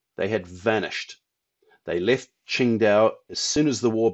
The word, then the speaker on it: Qingdao: But in any case, it is Qingdao, not Tsingtao. That's the same for the bear, it's the same for the city.